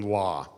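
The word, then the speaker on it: לא: even get that right the original pronunciation must have been law it couldn't have been low probably the masterates who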